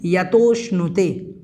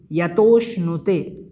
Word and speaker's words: यतोष्णुते: उसके बाद में है निर्वृतिमात्मनीनाम, निर्वृतिमात्मनीनाम इस प्रकार से इसका उच्चारण है।